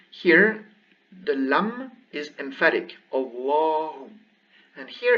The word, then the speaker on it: الله: So here we have Allahu, Allahu, emphatic Allahu. But here, because there is a kasra before, it goes lillahi, lillahi.